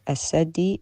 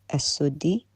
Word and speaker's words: السدي: السدي Is not as-saddi, it's as-suddi, which tells me the ignorance here, because if he knew... Hold up, even I know al-Suddi.